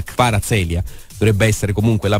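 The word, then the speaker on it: Kvaratskhelia: dato la notizia di vara sedia questa è la pronuncia poi montano che è esperto in georgiano mi dirà se la pronuncia esatta che para seria dovrebbe essere comunque la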